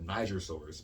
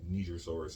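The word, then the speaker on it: Nigersaurus: it makes sense um this next one is pronounced neiger well actually i've heard this say my american tongue our texas tongue says uh niger silvers but it's perhaps neither people from there have told me it's pronounced nigeria and i'm probably thinking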